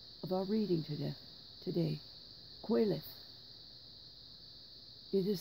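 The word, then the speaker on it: Qoheleth: the first line of our reading today today quelith it is spelled q o h e l e t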